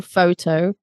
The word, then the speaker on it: photo: So obviously it's a photo, that's the easy one. Stress on the foe, photo.